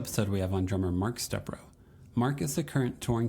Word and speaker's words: Stepro: It's Stepro with the Stepro. accent on the E.